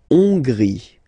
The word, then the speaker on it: Hongrie: La Hongrie. So remember, H doesn't exist, so you don't pronounce it. So it starts with O-N, on, on, and then gris, gris, final E, not pronounced.